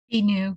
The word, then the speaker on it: Binu: So one of the other ACP initiatives is Binu. Is that how you pronounce your name? Am I pronouncing it correctly? Binu, yes, correct.